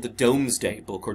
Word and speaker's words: Domesday: it is called the domesday book or doomsday book is how it's pronounced but it's domes day